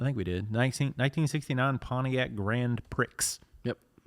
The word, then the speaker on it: Grand Prix: 1969 Pontiac Grand Prix. Yep. Right? I think that's how you pronounce it. No, pronounce it right. Grand Prix.